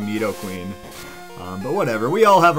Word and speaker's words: Nidoqueen: corrected my pronunciation because I always called these things Knight o king and night o queen growing up and now I guess I'm just hurted enough times from y'all that I've corrected it to meet O king Nidoqueen but whatever we all